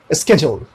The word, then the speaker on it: schedule: जैसे कि ये स्केड्यूल, स्केड्यूल।